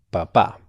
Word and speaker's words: papá: tiene dos sílabas y el acento si está en la última sílaba es el padre de familia papá si está en la primera sílaba el acento como dije es el tubérculo o el papá de la Iglesia Católica muy bien papá papá